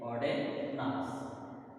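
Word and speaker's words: Ogden Nash: Here D is silent. Auden Nas.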